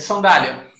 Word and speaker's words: sandália: Qual é a regra de sandália? Segunda sílaba, paroxítona terminada em ditongo, né?